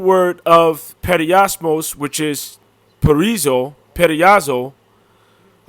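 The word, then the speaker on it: πεῖρα: And from there, we're going to go to the root of that, which is, how do you pronounce that? Peria? Strong's G 3984. Pyra.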